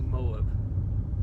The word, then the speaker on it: Moab: how it's spelled, but I thought it was pronounced Moab. And then I was like, well, maybe it's like Moab. But no, it's Moab.